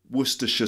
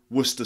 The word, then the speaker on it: Worcestershire: called Worcestershire Worcestershire sauce it's actually two ways of saying it you can do the full way Worcestershire sauce and some people say Worcester sauce so Worcestershire becomes Worcester past the Worcestershire sauce